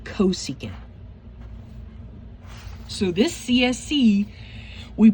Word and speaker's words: cosecant: For CSC we say cosecant. So this CSC we pronounce it cosecant.